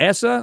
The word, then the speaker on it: ESA: JPL, NASA, and you got ESA or ESA, depending how you want to pronounce it, European Space Agency.